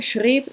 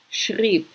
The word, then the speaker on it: schrieb: So it's really easy to not notice the way that these the diphthong is changed, basically. So you have these two vowels pronounced together, and then they switch so that they're pronounced very differently from each other.